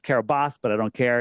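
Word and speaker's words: Kiribati: I TI that's what it's called right it's pronounced Carabas but I don't care it's it's spelled kabati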